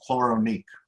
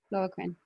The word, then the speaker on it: Chloroquine: Any thoughts on chloronique? Am I pronouncing that chloronique? Chloroquine? Chloroquine? Chloroquine. Right, okay.